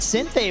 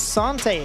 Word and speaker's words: Sante: In the English community, we've always pronounced it Cynth, but we've spoke to him. It is Sante.